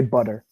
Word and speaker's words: butter: it like a tea but we don't we pronounce it like a D D right like instead of butter we say butter mm-hmm butter but of